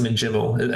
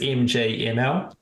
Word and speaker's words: MJML: I believe uh yeah I believe it's pronounced miml I think that's how the professionals call it but you may you may know it as mjml um otherwise known as